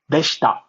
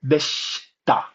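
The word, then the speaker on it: でした: The u is silent, and there might also be cases where the I is silent. You can say that's how it was, or that's right, that's how it was, by saying so deshita, right? You can see I'm not really pronouncing the I, it's so deshita, so deshita.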